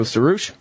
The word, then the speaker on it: Suroosh: Welcome to the show, Suroosh.